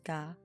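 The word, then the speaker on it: が: The G sound is always pronounced as a hard G. Don't be tempted to pronounce it like a J.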